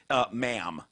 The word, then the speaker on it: ma'am: Ma'am. So Ma'am. What? yes, you address her as Your Majesty, and then subsequently as ma'am. Ma'am, gotcha. And they actually write in here, pronounced like jam, as if we didn't know what M-A''A'-M meant.